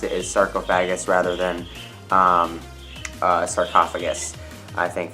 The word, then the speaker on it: sarcophagus: exactly like sarcophagus, but it is derived from 2 Latin words meaning flesh eater, and each word is pronounced a little bit differently, and based on the